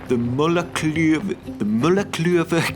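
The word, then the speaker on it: Múlagljúfur: So today, I'm packing my camera bag and hiking to one of the coolest spots in Iceland, the Mullaklöver Canyon. That's right, that's exactly how you pronounce this place.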